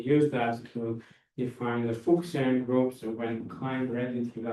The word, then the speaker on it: Fuchsian: So this is I assume I already all of you know what's a Kleinian group and what's a Fuchsian group, right? So Correct pronunciation was Fuchsian.